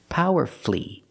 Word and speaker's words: powerfully: Master flee beautifully wonderfully we also practice with these words powerfully and mercifully again you have two syllables before f l l y and the stress is on the first syllable so the U is silent power flee merci flee and then we have